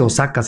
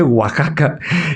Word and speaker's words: Oaxaca: Y entonces yo le dice, "No, no se dice Osaka. Osakaca, se dice Oaxaca."